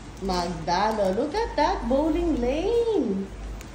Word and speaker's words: Magdalo: minan Ayan minigun m magdalo the founder of magdalo magdalo magdalo magalo Yes that's how you pronounce magdalo Look at that bowling Lane cool mayaman pala